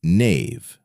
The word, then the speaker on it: knave: The word knave, once pronounced "kuh-nah-vuh", today we say "nayv", but we still write it with a K.